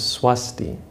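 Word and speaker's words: स्वस्ति: In the proper Sanskrit pronunciation is Swasti.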